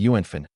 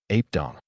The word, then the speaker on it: yuánfèn: It must be Yuanfin. Ape Dong.